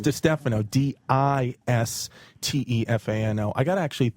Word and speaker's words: DiStefano: It's spelled like Di Stefano, but it's Di Stefano. No, but it's Di Stefano, but it said Di Stefano.